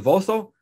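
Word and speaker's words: Vosshall: And then we have Anupama Dahanuka, Jeff Rivo, Leslie Vosso. For 15 or 20 years, I pronounced that name wrong, but I didn't know that the H is silent. Leslie Vosso, Zain Said, and Kedong.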